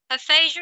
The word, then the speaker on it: aphasia: Aphasia is pronounced aphasia.